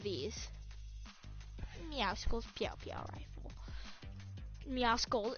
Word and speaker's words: Meowscles: Meowscles, it's actually Meowscles, because the C is silent, you nerds! It's Meowscles, not Meowscles, or Meowscles.